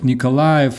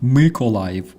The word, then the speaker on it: Mykolaiv: He says Kharkiv, Nikolaev, Odessa, Sumy. Kharkiv, Mykolaiv, Odessa, and Sumy. That is the proper pronunciation because they are mentally impaired.